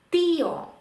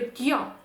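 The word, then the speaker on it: tío: подивимось наприклади тіо тіо тому що за правилами читання Ми прочитали би тьо тьо злили б але оскільки у нас тут розбивається наш фтонг і нам потрібно поставити наголос на і іспанці поставлять такий наголос тіо тіо дядя дія дія день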